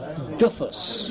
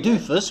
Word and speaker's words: Duffus: Tyrone Duffus. Okay. That's how we're going to pronounce it, because that's what we think it is. Right. Rather than Duffus, which is something very unflattering in America.